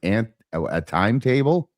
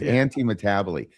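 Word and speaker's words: antimetabole: Otherwise it's like ant a timetable. No it's anti metabolite which is really just a very short kayasmus.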